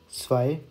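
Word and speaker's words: zwei: तो इसको मैं ना इंग्लिश में भी लिख देता हूँ यहाँ पे, ताकि आपको थोड़ा सा एक प्रोनाउंसिएशन का आइडिया हो जाए। नुल, आइंस, स्वाय, त्राय।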